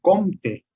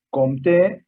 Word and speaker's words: Comte: nuestra se gana hispánica tenemos la tendencia a poner el tiro del acento en la primera sílaba entonces es muy común escuchar sobre augusto comte en francés con ten alianza con